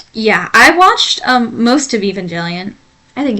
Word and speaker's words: Evangelion: Evangelion, right?